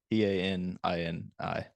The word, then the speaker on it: Panini: deal he did with is it Panini it might be Penny I really have no idea how you pronounce it p-a-n-i p-a-n-i-n-i yes Trading Card Company yeah that's it's got to be Panini yeah which is weird